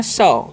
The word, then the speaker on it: saw: AW का उच्चारण है, ए का उच्चारण अ हो जाता है यहाँ पर।